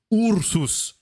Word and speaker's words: Ursus: game this is fun it's ursus right the u's are the same here or is this